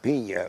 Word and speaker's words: Pina: So that's my name, Pina, like pina colada.